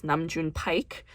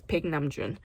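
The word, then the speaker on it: Paik Nam-june: artist named Pig namjoon whose name often gets butchered in the American lexicon as namjoon Pike but that's not how it's pronounced as Pig namjoon ping namjoon was part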